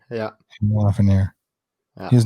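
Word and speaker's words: Lafrenière: Alexi Lafreniere. Yeah. Lafreniere.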